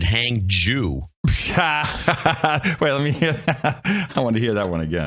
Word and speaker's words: Hangzhou: want to mention that the RT pronounces it and I think wrongly because the Chinese I get it from the Chinese stations hang hang John they pronounce it hang Jew well let me hear